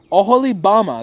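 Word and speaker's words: Oholibamah: Oholibama. No, Oholibama, that's how you say it. Oholibama, I'm pretty sure.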